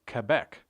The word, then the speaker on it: Quebec: All you have to do is say Quebec. The U in Quebec is silent.